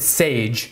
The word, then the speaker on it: SGE: Now, Pygame is the most popular game building library in Python, and SGE, you pronounce it Sage, is a wrapper over Pygame, which makes it even easier to use.